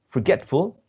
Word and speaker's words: forgetful: which is the root forget is a stress in this second syllable get and we add the suffix full forgetful and still it remains uh stress remains on the same syllable machine machine right and